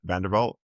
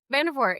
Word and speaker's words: Vandervort: Um you know big shout out to Amanda Vanderbal hopefully. Am I pronouncing her last name properly? Vandervort.